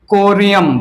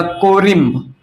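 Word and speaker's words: corymb: यहां पर कोरियम या कोरिम्ब, कोरिम्ब या कोरियम जो भी प्रोनाउंसिएशन करो, कोरिम।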